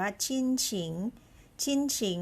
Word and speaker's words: 亲情: ค่ะ คือ คำ นี้ นะ คะ อ่าน ว่า ชิ้นฉิง หมาย ถึง ความ รัก ของ คน ใน ครอบครัว